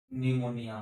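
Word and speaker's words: pneumonia: CUP कप, PN पेन, PNECNOUNIA निमोनिया, P silent हो जाता है।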